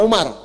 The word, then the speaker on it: Amr: Ah, kalau dibaca begini Amr namanya. Kalau wunya hilang bacanya Umar.